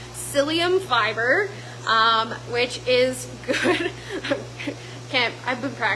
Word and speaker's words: psyllium: It has, I'm going to mispronounce this probably, but it's psyllium fiber, which is good.